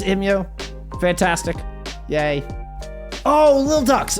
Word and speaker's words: EMEA: A, is it pronounced EMEA? B, where did you play in Season 5? Yes, it's EMEA.